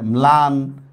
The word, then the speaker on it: ম্লান: লফলা দিয়া দেখেন কি দেওয়া যায়? ম্লান, ম্লান মানে মলিন, ঠিক আছে উচ্চারণ হয়েছে। নফলা দিয়া স্নান, দেখেন উচ্চারণ হয়েছে, দেখছেন?